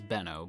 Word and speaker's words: Benno: I assumed it was Benno, but it was spelled like B-N-N-O, but it sounded like Benno, so I'm gonna go ahead and stick with Benno.